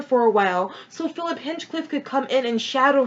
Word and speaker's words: Hinchcliffe: Now we have taking over for him is Philip Hinchcliffe. Oh god, I think I pronounced it wrong. I think Hinchcliffe. Making sure I got that right. Yep. Go his Hinchcliffe.